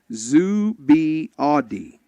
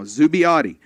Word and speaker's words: Zubiaudi: He says, "By the way, Aaron's last name is pronounced Zubiaudi." I can get it now. Zubiaudi. The end is kind of like naughty.